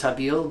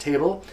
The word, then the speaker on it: tabil: a mix called table it looks like it's pronounced tabil but it's really pronounced table and table is made